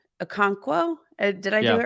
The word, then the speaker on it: Okonkwo: among uh pre-season regular season uh chicka's name Okonkwo did I do it right did I say